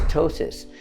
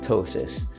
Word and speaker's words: ptosis: have Tois what is tosis it's p t o s i s it's not ptosis it's pronounced tosis and this refers to